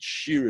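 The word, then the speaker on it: שיר: So he translated it as follows: all the masters of song, because the word shir, instead of meaning chain when it's pronounced share, when you pronounce it shir, it means all masters of song.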